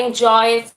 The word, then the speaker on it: enjoyed: Você pronuncia esse D no final, mas você pronuncia como um T, por exemplo, I enjoyed, I suggested.